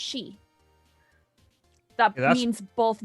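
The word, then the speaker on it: 四: The reason they never have 4th floors in hospitals is because the words for 4 and death are pronounced the same way in Japan. It's pronounced she.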